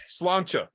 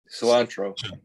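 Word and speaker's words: Sláinte: to pronounce it, will you do it? Yeah. Slancha. Cilantro.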